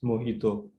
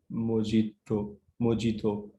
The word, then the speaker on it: mojito: So this is actually a Spanish word, and it should be pronounced as mojito. But few people, they do pronounce it as mojito.